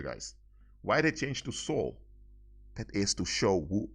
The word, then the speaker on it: Seoul: But the name Seoul, that's how you pronounce it, Seoul, refers to Sol Invictus.